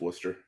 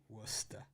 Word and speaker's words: Worcester: It's Worcester Red Sox to you. Oh, I have a tendency to pronounce every single letter that's there. So, but I'll go with you. I'll believe you. That's Worcester. Worcester. Or what's that sauce?